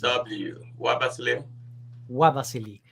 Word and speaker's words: Nwabasili: pronouncing it yeah it's it's pronounced as marvelously so you can start with the w w ABA silly perfect so so